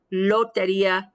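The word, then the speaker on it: lotería: the alveolar ridge um however in spanish there is a subtle difference it's the tongue curls a little bit so it's low like if you say lo taria the tongue curls up a little bit so it's hitting more the right between the alveolar ridge and this and the hard palate so loteria the tongue is curled rather than held totally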